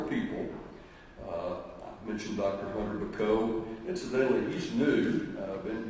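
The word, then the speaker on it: Bacot: possible by several people i mentioned dr hunter bako incidentally he's new i've been here about a year you're a little more and if the name is not familiar to you it's b-a-c-o-t pronounced mcco and he's sitting right there in the second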